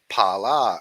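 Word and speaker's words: Phala: l a right and the H is silent of course so it's not a f- f fonic right it's just a PP P ponic so Pala and then other uh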